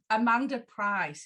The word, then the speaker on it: Amanda Pryce: This is Amanda Pryce.